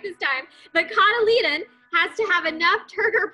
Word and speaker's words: cotyledon: The cotyledon has to have enough turgor pressure in its cells to break through the seed coat.